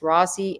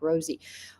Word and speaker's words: Rossi: These are two defense attorneys from two different offices, Rossi and Baldwin. Rossi had nothing to do with it, or Rosie. I think they pronounce his name more like Rosie.